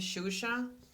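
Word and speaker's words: Xuxa: you there's a famous um brazilian singer named shusha see another way to pronounce it and that's a word but if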